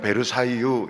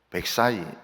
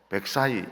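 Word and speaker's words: Versailles: 우리는 베르사유 이러지만은 프랑스 사람이나 미국 사람들은 베르사유 이렇게 하지 않고 백사이 이렇게 합니다. 그래서 우리 교인들은 앞으로 백사이 이렇게 발음해 주시기 바랍니다.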